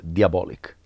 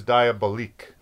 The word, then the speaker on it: Diabolik: but the actual name of the character is diabolic diabolic not die not diabolic but i think first i always thought it was diabolique i think with that type of pronunciation no